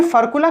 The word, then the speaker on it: furcula: अब ये फर्कुला कौन सी आबला है? ये फर्कुला है, ये FURCULA, फर्कुला, स्पेलिंग देख लीजिए, FURCULA, फर्कुला।